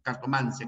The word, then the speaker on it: cartomancia: nigromancia o nigromancia Este pero se prefiere se prefiere la terminación sin tilde no tiromancia cartomancia que es lo como pronunciamos nosotros también para la terminación escopia